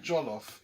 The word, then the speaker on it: jollof: There's only one thing that rhymes with jollof in the entire world language, and that is Wolof. So there's no other reason for jollof to be called jollof unless it's from the Wolof.